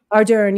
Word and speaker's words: Ardern: Ardern, yes.